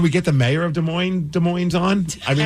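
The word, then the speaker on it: Des Moines: that we say it de moin with the S but then I've also heard people say no no no the s is silent so I don't know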